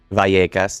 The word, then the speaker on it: Vallecas: Vallecas. You see the double L is like my last name. That's what I'm thinking. Yeah, that was good. Double L make a Y in Spanish.